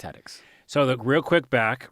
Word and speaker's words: Hattix: It's Hattix.